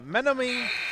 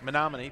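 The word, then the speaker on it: Menomonee: Zach Zavada ready to check in, the 6'4" freshman out of Menominee Falls, Wisconsin. Menominee, thank you.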